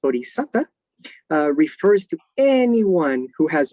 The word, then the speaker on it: bodhisatta: So in early Buddhist schools, as well as in modern Theravada Buddhism, a bodhisattva, in Pali, this is pronounced bodhisatta, refers to anyone who